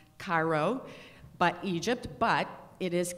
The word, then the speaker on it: Cairo: East, K-A-I-R-O, in your books would probably be pronounced Cairo, but Egypt, but it is Cairo, Georgia, where Jackie Robinson was born and where